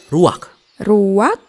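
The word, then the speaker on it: רוח: kehadiran Allah secara pribadi kata dalam bahasa ibraninya adalah ruwak-ruwak ya benar tenggorokan kita harus benar-benar bersih di akhir pengucapan jadi apa itu eh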